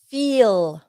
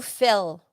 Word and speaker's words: feel: The next verb, to feel. Okay, ¿cómo se pronuncia? Dos E, I. To feel. Not to fill. Not to fell. Feel.